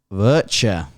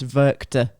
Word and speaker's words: Werchter: to talk about rock virtue okay and right I need to set this record straight right everyone has been pronouncing it wrong what how is it so the W is pronounced as a v by the way I